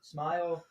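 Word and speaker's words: Smael: Smile is how you pronounce it.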